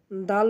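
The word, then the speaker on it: دال: দাল উচ্চারণ করব জিহ্বার আগা সামনের উপরে দুই দাঁতের গোড়ার সঙ্গে লাগাইয়া।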